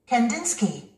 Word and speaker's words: Kandinsky: Kandinsky. Kandinsky. 우리는 이 사람을 바실리 칸딘스키라고 합니다. Kandinsky. Kandinsky. 이음절에 스트레스가 오고 있죠. Kandinsky.